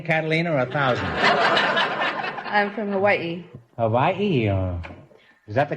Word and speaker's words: Hawaii: which islands Coney Catalina a thousand I'm from Hawaii Hawaii is that the correct pronunciation I thought it was how I know that's not right Hawaii is correct oh you couldn't say Hawaii just